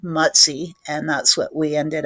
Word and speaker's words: Mutzy: And he did look like a little bear at the time, but the pronunciation is like in English it would be m u ts e y matzi.